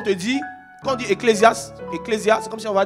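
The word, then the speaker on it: ἐκκλησία: Alors, le mot église ici, c'est un mot grec qui, si on veut prononcer simplement, c'est ecclésia.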